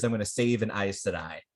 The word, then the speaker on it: Aes Sedai: And his answer is, "I'm going to save an Aes Sedai." Right. I mostly say that so that you know how to pronounce that annoyingly pronounced word.